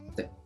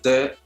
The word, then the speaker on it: de: Este artículo definido de, se dan cuenta que esta E no se pronuncia como E. No es de arts, no. The arts. Es como que la E fuera muy suave, muy muda, sin esfuerzo, como si ni si existiera.